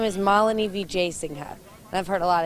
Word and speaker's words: Wijesinghe: My name is Malini Vijayasinghe, and I've heard a lot of different things. She has a hard-to-pronounce name, an easy-to-like personality, and a hard-to-imagine resume.